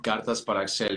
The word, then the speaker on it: Cartas para Axel: Cartas para Axel, is that right? Is that how you say it? Cartas para Axel. Yeah, Hey, yeah. I wasn't far. Yes. You got it. That was perfect.